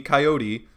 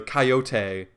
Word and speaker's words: coyote: cartoon by the way most of the time it's routinely pronounced with a long e coyote but in one episode